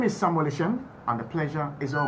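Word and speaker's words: Eshun: For both Facebook and Twitter, kindly look for the handle at Samuel Ishen GH. At Samuel Ishen GH. Ishen is spelled E-S-H-U-N.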